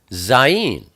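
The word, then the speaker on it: ז: Next we have Zayin. Zayin is the number 7, and it's pronounced Z, like zoo.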